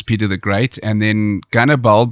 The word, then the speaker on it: Gannibal: the Great and then gunnerball because Russians pronounced Hannibal as Cannibal and the way he